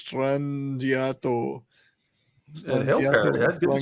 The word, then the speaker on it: Strangiato: La Villa Strangiato or whatever the hell I used to call it Strangledato, but you know, Strangledato. No, it's Strangiato.